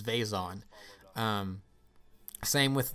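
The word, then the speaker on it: Vezon: me i typically say vison be the official canon pronunciation is vason um same with like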